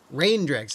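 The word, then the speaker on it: Reindrix: venison oh that's new rain DX I got to start saying it right CU it's like reindeer not like reindeer is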